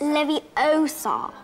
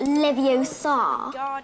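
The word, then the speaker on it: Leviosa: arguing with each other you're saying it wrong it's Levi Oar not Levi Oar you do it then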